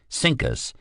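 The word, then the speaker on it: CINCUS: C I N C U S looked fine on the page, but when pronounced out loud, Sinkus, it sounded too much like the punchline in a Bob Hope routine.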